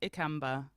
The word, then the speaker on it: Ikamba: that a lot so my last name is pronounced Amba EA yes thank you